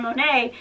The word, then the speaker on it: Monet: And so our niece is Sierra Monet, and it's spelled M-O-N-E-T.